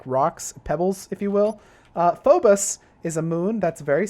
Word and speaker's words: Phobos: my let's play thing I was like fobos and damos but apparently they're pronounced Fobus and Imus correctly although I you know